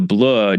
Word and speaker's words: bleu: Because the bleu, which, it literally means by the blue, but of course the bleu just rhymes with Dieu.